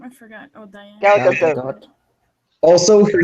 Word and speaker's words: Gadot: Her last name has a T in it. She's not French.